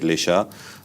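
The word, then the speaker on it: Le Chat: There's a French chatbot now, Lisha. So it's L-E chat, C-H-A-T, but they pronounce it Lisha.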